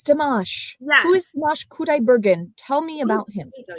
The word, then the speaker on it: Qudaibergen: That's pretty close. It's Qudaibergen. Qudaibergen. Dimash Qudaibergen. Yes, Qudaibergen. So you might see it spelled with a K, but he adopted the Q because his name as spelled in the chat.